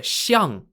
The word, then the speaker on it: xiang: the shure pieces are two pieces called the xiang spelt x i a n g xiang means elephant in chinese and they are positioned outside of the gong or palace on the board the xiang pieces can only move diagonally by two points